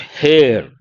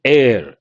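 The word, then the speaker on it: heir: remember all these words it is not Hair It Is air here H is ENT silent h appointed you can say silent or mute H we have to use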